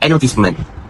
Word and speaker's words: advertisement: For instance, British English often stresses the first syllable of advertisement, whereas American English stresses the third, based on Crystal 2003.